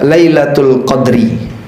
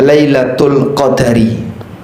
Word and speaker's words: Lailatul Qadar: Ada dua cara baca. Anda bisa baca lailatul qadri, Anda juga bisa sebut dengan lailatul qadari.